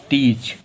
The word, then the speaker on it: teach: जब भी ए ई के बाद में आता है तो हमारा जो ए होता है वो साइलेंट होता है। तो यहाँ पर ए साइलेंट है, ए को नहीं पढ़ेंगे, पढ़ेंगे टीच।